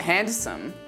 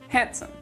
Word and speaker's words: handsome: you say this it's not handsome it's handsome take a moment to